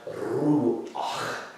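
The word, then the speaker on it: רוּחַ: This word right here, rash, wav, che'at, is pronounced ruach.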